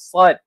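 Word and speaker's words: ص: Antara sifat huruf sad ini adalah kita ni tebalkan.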